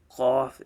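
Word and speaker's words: قاف: But kaf is a thin letter, qaf is a thick letter.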